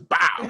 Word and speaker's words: Bawl: Podcast, Bawl and Bawl on Bulls. You have to say Bawl like it's Avery Johnson saying it. So you got to put some stank on it. It's bow. That's how you say it.